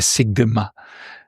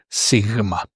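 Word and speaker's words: σίγμα: So it's not a sigma. If you want to say it in Greek, it's called sigma.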